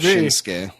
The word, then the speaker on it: Shinsuke: I think that they were probably just mispronouncing it back then. I mean, he calls himself Shinsuke.